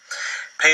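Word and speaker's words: פא: Pei is also one of our Begad Kafat letters, so when it has the dagesh within it, it's pronounced like a P, and when it does not have the dagesh, it's pronounced like our F.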